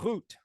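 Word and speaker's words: רות: do this one now here the VAV is functioning as a vowel again only now it's not the o sound it's a long u sound yes Ruth so uh root is how you uh could pronounce this now in uh the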